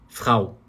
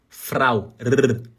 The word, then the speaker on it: Frau: Então, eu falo R, Frau. Só que você pode pronunciar, se você quiser, vibrando a ponta da língua. Falar assim, ó. Frau. Igual você fala prato.